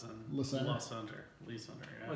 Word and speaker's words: Le Center: The gentleman that same with Le Center, no, Lee Center. Yeah. It's always Le Center. Yeah. I've And got. always That's where LeSueur. our shop is in Le Center. Le Center. Lee Center.